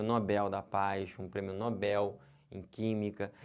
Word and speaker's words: Nobel: da Paz um prêmio Nobel em química e não um prêmio Nobel se você falar Nobel ferrou tudo errou tudo aí